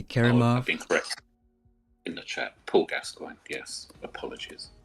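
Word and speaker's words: Gascoigne: Paul Gascoin. Yes. Apologies. I just heard Paul Gasoline. How do you say it? Paul Gas Gascoin.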